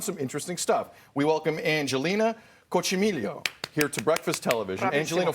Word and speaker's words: Angelina Coccimiglio: We welcome Angelina Coccimiglio here to Breakfast Television. Angelina, first off, did I get the pronunciation correct?